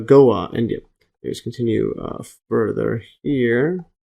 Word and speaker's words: Goa: Or I think it's pronounced Goa, India.